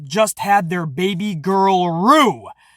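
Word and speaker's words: Roux: had their baby girl rue i thought it was ro because it's spelled r-o-u-x but i i think i heard tom phillips say rue so whether it's row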